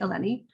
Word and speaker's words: Eleni: be here hi i'm eleni uh rhymes with jenny eleni i'm the research director